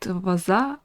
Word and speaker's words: Wazuh: detection and integrity monitoring I pronounced it vaza as heard on their YouTube channel so let's get started